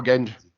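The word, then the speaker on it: Genge: Oh, Genji. Yeah, Genji. Yeah, sorry. I don't remember how to pronounce his name.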